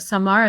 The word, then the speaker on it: Samar: pronouncing your name yes so in Arabic it's pronounced summer and so when we moved here people just started saying summer and it kind of stuck but Samar is the right way to say okay good your husband